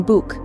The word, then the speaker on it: Buch: A soft version, heard in words like ich, I, and a hard version, as in Buch, book.